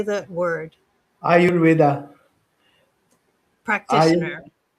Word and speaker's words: Ayurveda: Ayurveda. Ayur. Practitioner. Ayurveda.